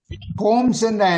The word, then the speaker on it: combs: கோம்ஸ் என்ன? COMBS. அந்த அதுல வர்ற அந்த பி வந்து சைலண்ட். கோம்ப் அந்த பியை உச்சரிக்கிறது இல்லை. கோம்ஸ்.